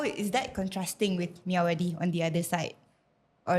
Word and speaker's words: Myawaddy: Okay, so Mae Sot is it's bordering to Myawaddy, right? Correct. That's very good. Did I pronounce that correctly? It's Okay, You did that Myawaddy.